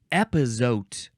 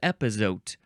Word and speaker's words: epazote: the first word is epote e p a o t epote oh good thing it's spelled just like it sounds noun from 1946 epote